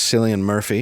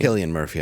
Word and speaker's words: Cillian Murphy: Best actor was Cillian Murphy. Yeah. Cillian Murphy. Yeah. Killian Murphy, I mean.